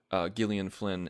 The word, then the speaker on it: Gillian Flynn: But with Gone Girl, Gillian Flynn, and I hate pronouncing her name that way You brought that up before. because it sounds like I'm screwing it up, but that's how she pronounces it.